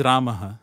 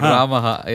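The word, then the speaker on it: Rāmaḥ: Raman is also and in Sanskrit it is Raha everybody for conveniently ignored R IGN Raha nobody want to say and ra Ram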